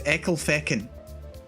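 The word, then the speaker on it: Ecclefechan: one likes you how do you think you pronounce this it's here anyway it's eckel feckin eccle fec hen eckel feckin that's a nice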